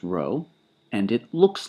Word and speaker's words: rho: And the population version of the coefficient of correlation is following the convention referred to by the Greek letter row. It's spelled rho. It's pronounced row and it looks like a script P, but in fact it's the ancestor of our R.